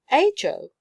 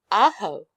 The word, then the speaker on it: Ajo: am called nothing else ajo repeated beth her sweet voice giving the title a pleasant sound in spanish it would be pronounced aho but we are not spanish in sangoa what are